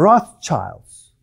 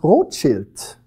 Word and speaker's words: Rothschild: It's a German word, and it means Rothschild.